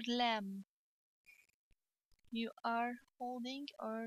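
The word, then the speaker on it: لام: pronunciation of the lamb it's like the letter l in english this is our l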